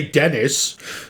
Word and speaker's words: Denis: I think you actually just pronounce it Denis. Because they were saying it on the Oscars, remember? And I was like, that's how you say that? Okay. But You could say Dennis.